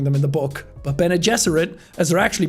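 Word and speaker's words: Bene Gesserit: the bene jesuit are such a massive or benegasarit as i was calling them in the book but ben and jesserit as they're actually pronounced which is another thing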